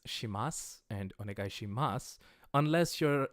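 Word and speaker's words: します: You'll notice that these are sus at the end, but I'm saying mas. That's a quirk of pronunciation.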